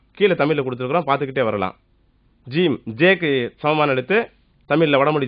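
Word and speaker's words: ج: சான்னு சொல்லும் போது நுனி நாக்கு மேல இருக்க 2 பல்லுல பட்டா எப்படி உச்சரிப்போமோ அது மாதிரி உச்சரிக்கணும், சா. அடுத்த எடுத்து பாருங்களேன், ஜீம்.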